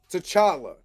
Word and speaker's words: T'Challa: But as far as the Black Panther, T'Challa, son of T'Chaka, because I have to say it like that, not TJ, he don't exist.